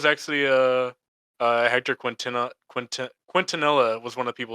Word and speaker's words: Quintanilla: but it's major Hector Quintanilla I think is how you pronounce that last name Antonella yeah it's like q-u-i-n-t-a-n-i-l-l-a oh I mean yeah